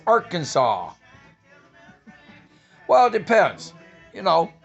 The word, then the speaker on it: Arkansas: natural state yep don it's not our kansas it's arkansas well it depends you